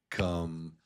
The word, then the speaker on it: computer: It's the accented syllable like pew is slower, so it's computer. Computer. It's louder and slower.